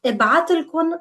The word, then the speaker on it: ابعتلكن: راح ابعتلكن مصاري قريبا. I will send you money soon. راح ابعتلكن مصاري قريبا. راح ابعت, I will send, and then لكن, to you literally, and it's pronounced as one word.